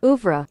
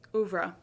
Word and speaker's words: oeuvre: and rare part of her How do you pronounce that? I need to go back to school. Oeuvre. Oeuvre.